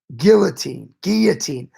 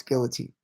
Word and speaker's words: guillotine: Guillotine. I got people in the comment section mad with the way I pronounce guillotine or guillotine.